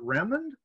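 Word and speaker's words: Remond: Charles, is it Raymond Douglass? Yeah, that's named after Charles Lennox Raymond, one of his close friends, the abolitionist radical from Salem.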